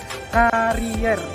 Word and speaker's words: karier: Yang benar karier pakai e. Tapi bacanya itu tetap karir ya.